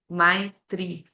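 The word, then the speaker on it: maitrī: Ma amizade my, o i longo, né? My tri.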